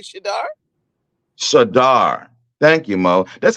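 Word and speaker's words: Shedeur: tennis player's name but you can't you can't pronounce a simple name like shadar sadar thank you Mo that's all you had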